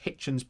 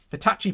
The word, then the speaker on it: Hitachi: this region that holds up the rail manufacturers hitchens plans for the region as as an example hitachi sorry hitachi sorry i've got to pronounce that right hitachi bought a site in the north east with